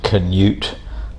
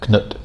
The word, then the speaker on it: Knut: Knut, very famous king, usually in English called Canute, but his Danish pronunciation or Norse pronunciation is more like Knut.